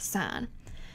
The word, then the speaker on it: sine: first one is called sine and you abbreviate that s-i-n however don't say sin it's still pronounced sine so the ratio of